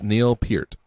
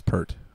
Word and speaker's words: Neil Peart: Pronunciation. It's Neil Peart. I did not know that. I always thought it was Pert.